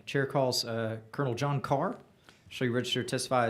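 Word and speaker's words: Ker: And thank you, chairman, for pronouncing my last name correctly because it's spelled K E R.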